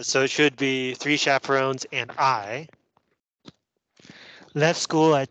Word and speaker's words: chaperon: see three chaperon a chaperon is an adult who accompanies children it comes from the French so we pronounce this word chaperon three chaperon in myself